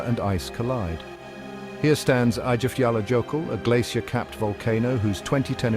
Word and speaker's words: Eyjafjallajökull: Pronounced Eyjafjallajökull, it literally means Island Mountains Glacier.